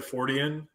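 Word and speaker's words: Fortean: adjective or something then you would say his name and then just add the the suffix to it so forian I think yep so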